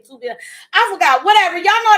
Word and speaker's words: Tubi: Is it Tubby or Tubi? Girl, don't give me a line. It's one of those. I think I was saying Tubby, and it was like, it's Tubi, or was I saying Tubi?